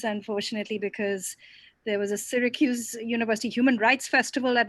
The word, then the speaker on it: Syracuse: the invitation um and the pronunciation is syracuse but most people get it wrong so don't worry even i got it wrong when i first came here so it's syracuse versus syracuse i was not able